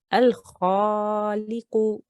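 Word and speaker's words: الخالق: So we will say Al-Khaliqu. Al-Khaliqu. Al-Khaliqu. Al-Khaliqu. Good. So when we're saying kha, make sure your mouth is round and you're making a heavy, thick sound. Al-Khaliqu.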